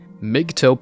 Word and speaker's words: MGTOW: Luke keeps on saying, MGTOW, pronounced as mgtow, came out of the men's rights sect.